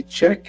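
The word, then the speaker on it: Chek: All right, my name is Check. It's spelled C-H-E-K.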